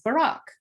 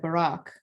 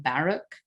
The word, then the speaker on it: Barack: However, it has the wrong pronunciation. It has the pronunciation Barack.